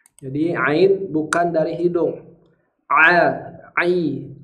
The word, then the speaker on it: ع: Ain dengan pas nah salah satu yang sering terjadi dalam pengucapan huruf Ain adalah dengan cara memasukkan huruf hamzah ke dalam hidung jadi bunyi hamzahnya dimasukkan ke dalam hidung jadi to o bukan tapi Ain ini makhrajnya adalah tengah tenggorokan jadi Ain bukan dari